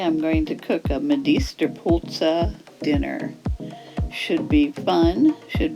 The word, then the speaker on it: medisterpølse: so let's get started first stop pronunciation medist Pulsa and Native Danish speakers pronounce medist pul uh medist puls medist pul Med POS language lesson over now